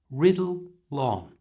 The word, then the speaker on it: riddle on: To pronounce this correctly, move the L sound from the end of riddle to the front of the on. So slowly it sounds like this, riddle on.